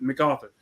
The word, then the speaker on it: MacArthur: he said yeah my bad that's how you pronounce it MacArthur hey I get you I get you my